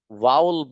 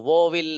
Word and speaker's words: vowel: वाउल पढ़ेंगे इसको, वोविल नहीं, वाउल।